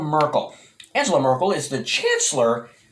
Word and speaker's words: Merkel: that somewhere it's angela merkel pronounced somewhat apparent appropriately perhaps like urkel as in steve urkel so it's angela merkel